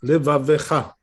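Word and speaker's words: לבבך: When you say ve'ahavta et Adonai Elohecha, bechol, like this, levavecha. Proper way to say it.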